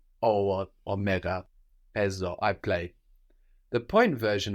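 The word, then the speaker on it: παίζω: So this is spelled P, which is the letter that looks like the mathematical symbol, the pi, no? AI, which gives us the E sound, like in ke, the word for and, like in ne, the word for yes.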